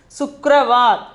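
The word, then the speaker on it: शुक्रवार: Sukravar for pronunciation is Sukravar.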